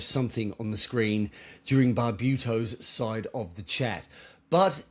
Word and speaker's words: Barbuto: First first time around you got it Barbuto.